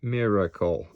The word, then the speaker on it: miracle: We want to spell miracle, so that should be flipped, or almost like the letter D, and then miracle, unaccented schwa syllables.